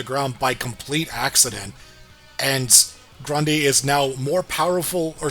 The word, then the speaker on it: Grundy: And this and and I think Fate's been recast and he keeps calling him Grandi. Grand. Grundy.